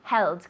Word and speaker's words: held: Held. Good. Hold, held. With the pronunciation of the D, I promise it sounds like a T.